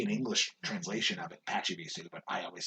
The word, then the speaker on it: Pachirisu: So, I saw that one, and I'm just like, oh, they're calling it Pachirisu, because that's their Japanese pronunciation. That could be an English translation of it, Pachirisu, but I always say Pachirisu because of that.